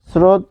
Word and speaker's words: স্রোত: স্রোত যদি লিখি, উচ্চারণটা হবে স্রোত। কারণ কি? এই যে দন্ত স হসন্ত যোগ র, রফলা রয়েছে, ফলে এখানে একটা হসন্ত হবে, কারণ বানানে হসন্ত